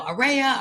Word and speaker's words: Aurea: in person you know you can't pronounce my name it's you know ARA Aurora a and many people say you can remember it like ARA ARA Sunshine but many of you